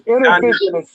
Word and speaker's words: Innervizion: It's intervision. It's intervision. It's spelled INNERVIZION.